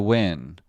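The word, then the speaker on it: Nguyen: Ningen is pronounced win. It's Vietnamese.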